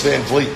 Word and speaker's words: Vliet: go from there interview Chris Van Vliet rhymes with meat later on at 6 p.m.